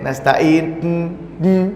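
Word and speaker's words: نستعين: itu di ujungnya kan nasta'in, kayak ada nya gitu ya. Nah, kan nasta'in, gitu ya. Nah, ada egonya. Itu sebetulnya nggak kayak gitu pengucapannya, ya. Biasa saja sebetulnya, ya. Nasta'in, biasa aja, ya.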